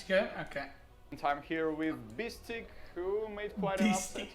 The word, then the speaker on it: Beastyqt: But, so Russians always call me Beastyqt. Not Beastyqt, not Beasty, Beastyqt. That's how they pronounced it, okay?